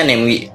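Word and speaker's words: Namewee: MIUI neoui cara bacanya segimana ini tulisannya karena bacanya nengwe Oke berbicara mengenai sini hem di ini baru-baru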